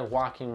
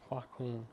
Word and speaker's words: Joaquin: a traumatized veteran called Joe who's played by walking and feet walking walking how did you say his name Joaquin Joaquin black queen Joaquin okay